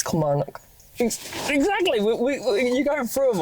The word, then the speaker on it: Kilmarnock: And Kilmarnock. It's Kilmarnock.